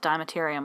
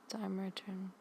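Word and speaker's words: Dimeritium: And then I think it's actually pronounced Dimeterium, which doesn't make sense to me, but whatever.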